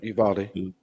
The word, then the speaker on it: Uvalde: city wrong but you is it you valde is that how you say it yeah okay uvalde uh in texas um